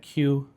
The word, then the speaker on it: KYU: At Q, as I've now learned it's pronounced because that's what it says on the menu. I've been calling it Caillou for We tried to make it so much fancier.